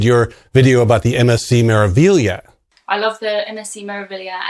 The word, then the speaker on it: Meraviglia: Yeah, it took me a while to pronounce Meraviglia, and I don't think you can say it without an Italian accent, like Meraviglia.